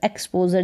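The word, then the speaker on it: exposure: को एक्स एक्स फिर पीओ पो और जर एक्सपोजर जैसे इस स्पेलिंग को ब्रेक किया e एक्स को हमने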